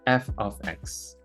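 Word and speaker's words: f(x): Now, the left side is pronounced f of x.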